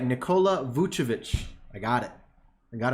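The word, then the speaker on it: Nikola Vučević: Nikola Vucevic.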